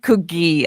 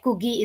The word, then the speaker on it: Kugi: So Kugi is like the colloquial like word in kind of Punjabi local dialect for dove, which in Urdu would be fakhta. So that Kugi is the right pronunciation, and so it means dove.